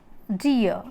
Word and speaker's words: deer: EER stands for, these three letters stands for ear, and R is silent. Then deer. Deer.